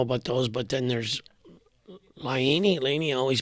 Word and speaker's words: Laine: But then there's Laine. I always pronounce it the wrong way. Laine.